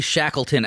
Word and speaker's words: Shackleton: There's the story of the Shackleton expedition to the South Pole.